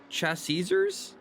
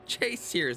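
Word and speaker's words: ChaseSears: Chassisers? Like brutally butchered that. Chase Sears 1. Chase Sears, that's how you say it.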